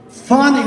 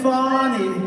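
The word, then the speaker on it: Fani: well now even though it's I believe it's spelled f a ni I to my way of thinking that's Fanny but when she became the district attorney I think she put a little emphasis on the you PNY so corrupt fonny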